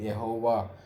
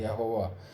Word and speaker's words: यहोवा: तो हमको मालूम है कि ये यहोवा है, इसका प्रोनाउंस हिंदी में करेक्ट लिखा है यहोवा। इंग्लिश अनेक किताबों में याहवे कह के लिखते हैं, वो गलत है। बाइबल के अनुसार वो यहोवा ही है, हिंदी में करेक्ट है।